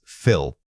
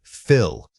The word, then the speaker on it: fill: When you say fill, make sure your tongue stays low in your mouth and doesn't lift toward the roof of your throat. This helps maintain that relaxed short vowel quality.